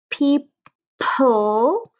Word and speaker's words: people: But you can kind of like E, so E-O together in this case is going to say E, people, and then there's a silent E.